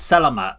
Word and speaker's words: selamat: Senang So I said selamat, so it's selamat, so the E isn't pronounced.